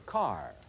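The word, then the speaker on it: Kerr: Mayer said, her name rhymes with star. The name that rhymes with star is Deborah Carr.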